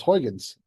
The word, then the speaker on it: Huygens: Someone pronounce it for me. It's Huygens.